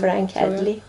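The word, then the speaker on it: Frank Headley: Och det här är Frank Hedley, uttalas det va? Ja, Frank Hedley.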